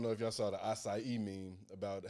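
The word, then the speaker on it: açaí: You know, it's acai. Yeah. TJ was like, how it got more syllables than it got letters.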